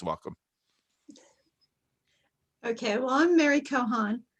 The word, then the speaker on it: Kochan: Okay, well, I'm Mary Kochan. The C is silent just to confuse people.